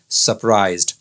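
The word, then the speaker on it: surprised: है वो है सरप्राइज्ड इसके अंदर भी आर लगा है और आर साइलेंट है आर के बाद में कोई वावेल नहीं है तो शब्द की प्रनंसीएशन ब्रिटिश इंग्लिश के अनुसार क्या होगी सरप्राइज्ड आगे बढ़ते हैं अगला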